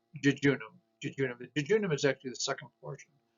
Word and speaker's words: jejunum: an e and then and that's would be pronounced jejunum is actually the second portion of the small